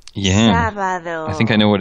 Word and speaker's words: sábado: Begins with S-A, but it's got an accent on the A. I'm going to click on the yep. speaker. Sábado. Oh, it's one of those B's again, isn't it? The B makes a really odd sound.